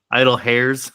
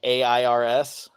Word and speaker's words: Idle Heirs: Idol hairs. I love that one. Idle air like airs.